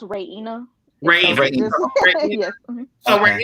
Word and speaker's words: Raina: And Raina, is it Raina? How am I saying it right? Well, it's actually pronounced Raina.